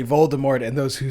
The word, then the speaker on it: Voldemort: how jk rowling says voldemort is voldemort like the t is silent and just everybody says it wrong and everybody just says it wrong but in the movie they say voldemort so that's not anybody's